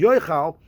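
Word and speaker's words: יאכל: The word is spelled Yud Aleph Chaf Lamed, which he pronounces Yoichal, which indicate that it's referring to a person.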